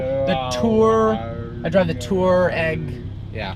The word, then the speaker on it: Touareg: I drive the Touareg. Yeah. Touareg. There you go. Two distinct syllables. Touareg.